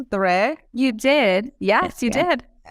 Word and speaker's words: Doré: I think the funniest one is that people just say door.